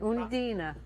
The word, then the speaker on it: Undine: Let's go to, pronounce it again. Undine.